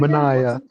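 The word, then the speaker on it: Manaea: Maniah. Maniah. Maniah. Maniah. Mania. We got Manaya who hurt his uh elbow.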